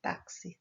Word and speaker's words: táxi: Então, aqui tem táxi, saxofone, xerox, box, oxigênio e durex. Se escreve com X, porém o som é de CS.